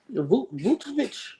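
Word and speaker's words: Vučević: How you pronounce it? Vucevic. Vucevic.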